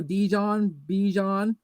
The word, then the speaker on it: Bijan: They're like think Dijon mustard, and there you go, Bijan Robinson.